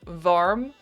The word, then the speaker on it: warm: The W is more like a v sound in Dutch.